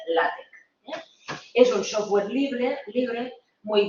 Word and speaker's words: LaTeX: LaTeX, parece que diga látex, pero el colaborador técnico que tenemos siempre me corrige y dice, no, se tiene que pronunciar LaTeX.